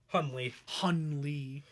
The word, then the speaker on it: Hunley: Hunley.